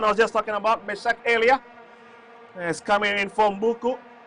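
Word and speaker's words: Meschack Elia: How you pronounce his name? Meshak Elia.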